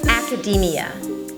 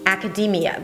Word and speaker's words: academia: 'eh-dj'-KEI-sh'n' 'academia' 'academia' the first sound is the 'a' as in 'cat' and then it's a 'k' sound.